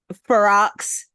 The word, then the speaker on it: Ferox: Ferox, like rocks, like on the rocks.